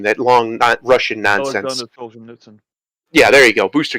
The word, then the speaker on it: Solzhenitsyn: They don't understand somebody like Alexander Solzhenitsyn, I think is how you say his name, that long Russian nonsense. Alexander Solzhenitsyn.